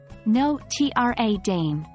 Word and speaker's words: Notre Dame: USA some might say Notre Dame but the actual pronunciation is no tra Dame and what about Beethoven